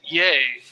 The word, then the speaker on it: Ye: it spelled right yeah and uh but he pronounces it yay you know like uh celebratory yeah yeah and